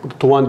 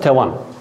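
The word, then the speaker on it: توان: Eski Farsça tuvanesten diye okunuyormuş. Tuvan diye okunuyormuş. Hatta tuvana diyorlar. Tuvana diye bazı dükkanlara isim veriyorlar. Tuana, tuvana güçlü demektir. Muktedir demektir. Zengin demektir. Modern Farsça tevan.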